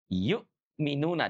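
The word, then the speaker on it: يؤمنون: Makanya dia dibaca dengan suara dijeda yukminuna.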